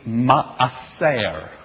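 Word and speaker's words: מעשר: word for tithing is ma'aser. Asser. The Hebrew word for wealth is osher. There's an Do you hear same word except one has an S sound, one has an SH sound.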